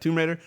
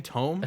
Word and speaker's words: Tomb Raider: I said it right. Tomb Raider. Coming out. What? Have you been saying tome? I all say this time? Tomb. It's every time.